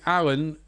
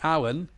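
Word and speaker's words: Allan: front Lozano and mertens so it's actually Alan they call him so we're going to cross that long name out to put Alan because that's how he's pronounced so Alan we're going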